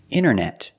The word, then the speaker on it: internet: hear Americans say wanted you have NT in the middle the t is silent other examples internet internet or Internet International